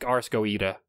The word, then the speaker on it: Goetia: I think it's Ars Goetia. Is how it's pronounced.